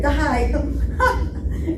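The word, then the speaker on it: די: say to her kid, die. That means enough, enough. Doesn't mean really die. So anyway, so that's an I. Yeah. That's a long I sound.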